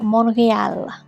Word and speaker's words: Montreal: Today I'm taking a train to Monreal. Just trying to use the Canadian pronunciation here, folks.